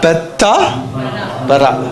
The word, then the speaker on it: பெத்தாபரா: மறுபடியும் ப்ரொனவுன்ஸ் பண்ணுங்க. பெத்தா பரா.